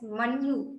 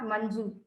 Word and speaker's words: Manju: my counterparts in German, they always used to address me as Manju, not Manju, because for them J is pronounced as Y.